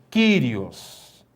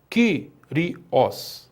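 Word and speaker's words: Κύριος: Kyrios. Kyrios significa Senhor. Veja onde está o acento. O acento está na sílaba Q. Kyrios. Significa que também é uma proparoxítona, porque está na antepenúltima sílaba.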